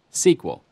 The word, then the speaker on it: SQL: for structured query language you'll often hear SQL pronounced as an acronym sequel these commands to retrieve